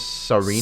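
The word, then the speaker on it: Tsareena: Yeah, and then there's Serena. Serena with the silent T. With the t silent.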